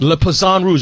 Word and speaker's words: Le Poisson Rouge: do you pronounce the club? Le Poisson Rouge.